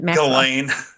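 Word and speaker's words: Ghislaine: her name gazan galain gain I can't gain the S is silent I believe it's a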